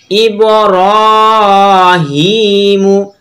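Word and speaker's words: إبراهيم: আলি জবর হা, বিহা ইব্রাহিমু, হামজা বাজের ইব, র খারাজ র, ইবর, হা খারাজের হি, মিম পেশমু, ইব্রাহিমু। এখানে র টেনে পড়বো এবং হা টেনে পড়বো।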